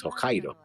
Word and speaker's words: Hokkaido: That's Hokkaido. That's an island. No, you were saying Hokkai as Yokai. No, you were saying Hoai. You were instigating with an H.